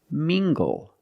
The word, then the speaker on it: mingle: look at this word mingle using the nasal sound and the hard good together mingle mingle is a